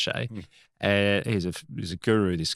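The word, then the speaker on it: Hsieh: And his surname's spelled H-S-I-E-H, Tony Shea, but it's pronounced Shea.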